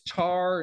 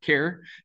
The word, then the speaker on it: char: C programmer because uh this is obviously short for character and nobody says character they say character so this should be pronounced care and not char um